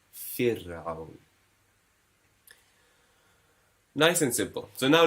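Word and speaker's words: فرعون: It won't be fir'aun, it'll be fir'aun.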